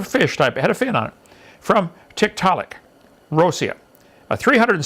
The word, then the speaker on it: Tiktaalik: show us one get comfortable said tick telic Tiktaalik that's how they pronounce it Tiktaalik well that was easy any other questions and